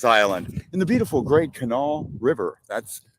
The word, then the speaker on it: Kanawha: Island AKA Lanes island in the beautiful great Canal River that's Canal not Kanawha or however else you were mispronouncing it it's canal okay all right that's